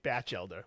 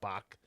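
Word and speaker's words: Batchelder: Batch elder. We'll say that from now on. Batch elder, not Bach.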